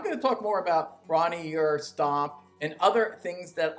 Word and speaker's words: Bron-yr-Aur: I feel like I'm out on that Bron-Yr-Aur, or however you pronounce that. It's a Welsh word. You got to roll the R, and obviously I can't do that, and I'm not going to pronounce it right.